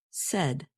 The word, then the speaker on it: said: of say is pronounced said you can remember this pronunciation by thinking of words that rhyme with said such as R and